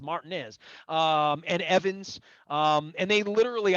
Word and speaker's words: Martinez: I even know how to say it. It's not Martinez, it's Martinez.